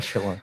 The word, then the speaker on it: Schlittler: You're Cam Schlittler, that's how you say his name? Yeah, Schiller.